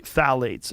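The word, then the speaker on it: phthalates: And when the introduction of phalates, it starts with a p t h a l a tes I think is how you spell it. Mhm. You say phalates and phalates are a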